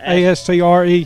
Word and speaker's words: Astre: Is that Astro or Astra? How do you pronounce it? Astre, yeah. Gotcha, okay.